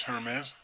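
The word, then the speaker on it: Hermès: But the E is inflected. So it's Hermes.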